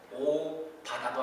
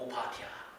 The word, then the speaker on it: 오바댜: 오바다도 아니고 오바댜.